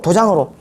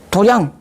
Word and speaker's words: 도량: 견 불자를 향해서 뭐여 도장으로 도량 도량은 장이죠 예 도량이라고 읽습니다 이게 원 읽으면 도이 읽는데 도장이 어디죠 도는 곳입니다